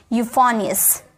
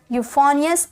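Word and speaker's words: euphonious: आई ओ यू एस यूफोनियस यूफोनियस इ यू को हम यू में पढ़े और ये फनी ियस यूफोनियस ओके चलिए आगे देखते हैं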